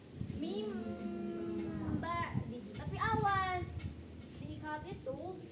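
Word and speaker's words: مِنْ بَعْدِ: Jadi bukan mibadi atau min ba'di, tapi mim ba'di.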